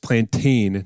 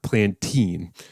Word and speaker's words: plantain: doing that okay it's pronounced plantin not plene uh in addition I